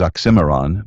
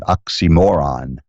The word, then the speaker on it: oxymoron: The word is oxymoron, but he, for comedic effect, pronounced it oxymoron, stressing moron.